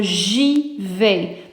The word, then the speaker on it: j'y vais: So j'y vais. Now the reason why we made a J apostrophe is because the I, the pronoun I, is treated like a vowel.